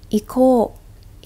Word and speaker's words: 行こう: The casual way is 行こう. 行こう. 行こう. Be careful, it's a long vowel at the back.